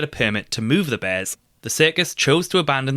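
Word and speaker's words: BAER: one of the calmst bears staff ever worked with. It eventually dawned on staff to perform a B a test on her. This is pronounced bear.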